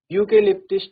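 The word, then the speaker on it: eucalyptus: तो आप देख सकते हैं इसका प्रोनाउंसिएशन क्या है? यूकेलिप्टिस। तो हो जाएगा अ। ठीक है? ई साइलेंट है या फिर हम बोलें कि उसका जो साउंड है वो क्या है? हमारा कंसोनेंट का है तो अ यूकेलिप्टिस ट्री नियर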